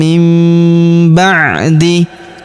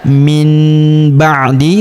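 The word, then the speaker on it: مِنْ بَعْدِ: Perhatikan cara bacanya. mim ba'di. Jadi bukan dibaca min ba'di, tapi nun sukun berubah menjadi mim.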